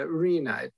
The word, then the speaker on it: RHNA: housing element is the arena pronounced it's rhna but it's pronounced Arena and it's a target